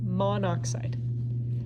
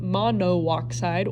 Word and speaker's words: monoxide: If the prefix has more than one syllable, you're going to drop the last vowel if the second element is oxygen. What do I mean by that? Okay, carbon monoxide. We do not say carbon mono oxide or carbon monoxide.